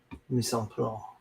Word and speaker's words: Mise en place: Look, and there's another one called Mise en Place. That's really clever. Mise en place. Personal chef. No, you have to pronounce the CE in French.